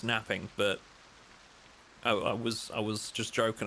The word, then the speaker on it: knapping: In my opinion, it's a soft K, not knapping. Napping? No, it was a joke, my friend. Don't worry. I was being sarcastic. It's pronounced napping, but I was just joking around.